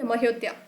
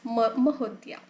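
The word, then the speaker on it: Mahodaya: Okay, Mahodya. You can remember Ayodhya. So in the similar fashion, you need to pronunciate it as Mahodya.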